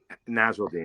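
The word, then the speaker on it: Nasirildeen: Nasruddin. Okay, I can buy. All right, Nasruddin. I love those later picks. I think those are guys to definitely keep an eye on. I know you're big on. Nasruddin's the first round talent too.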